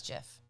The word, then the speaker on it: GIF: it could it could look gif and be pronounced like penis and he would be right because he invented that word exactly penis jiff what's it stand for it says for graphic